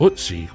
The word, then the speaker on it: Ötzi: This is how the most famous ice mummy Ötzi (Pronounced Oot-Zee), was preserved.